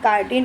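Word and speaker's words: chitin: इसको बेटा चीटिन नहीं बोलेंगे। क्या बोलेंगे? काइटटीन प्रोनाउंसिएशन किया जाता है।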